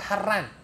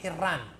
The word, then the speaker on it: Harran: Ke Harran. Ya, ada dua cara membacanya di situ, Harran atau Hirran. Terjemahannya macam mana? Harran atau Hirran? Harran aja ya.